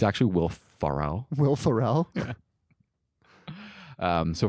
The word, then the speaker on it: Ferrell: them have hey man as long as you pronounce it right yeah it's actually will farell will farell yeah um so from here we